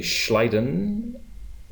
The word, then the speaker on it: Schleiden: go on in 1839 German biologist Matias J schleiden no that's pronounced correctly oh good thank you Matias J